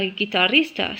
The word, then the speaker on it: guitarrista: Y una persona que toca la guitarra es una guitarrista. So if you play the guitar, si te toque la guitarra, eres guitarrista. And you can roll your R if you can do that. Guitarrista.